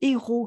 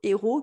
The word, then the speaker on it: héros: Notre héros qui n'est pas le héros, alors ça se prononce comme le héros qui fait des actes héroïques, hein, l'espèce de roi Arthur, Lancelot.